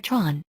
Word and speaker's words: Theron: there is an aan surname originally spelled thin pronounced in Africans as TR n or Tron she grew up on her parents Farm in